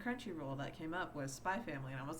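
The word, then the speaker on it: Spy × Family: my favorite manga is spy family with like a little like hunter hunter x between spa and family i've never understood why you're not supposed to pronounce the x but okay um but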